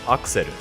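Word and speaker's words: アクセル: Axle in Japanese is pronounced akseru, and accessory is accessory.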